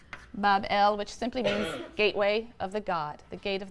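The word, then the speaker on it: בבל: shrine or temple in Babylon pronounced Bob L which simply a gateway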